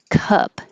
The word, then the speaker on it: cup: open a lot caw cup keep the jaw more closed and the tongue flat cup sorry about the